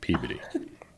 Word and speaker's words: Peabody: No one can say it correctly, but it's beautiful. Yeah, it's named after George Peabody, Miss Tiffany, but they pronounce it Peabody.